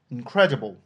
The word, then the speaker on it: incredible: Regardons donc le mot sans son préfixe. Credible, lui, a un suffixe en ibo qui placera l'accent sur la syllabe qui le précède, conformément à la troisième règle de placement de l'accent dans le mot. Du coup, on retrouvera l'accent en deuxième syllabe dans incredible.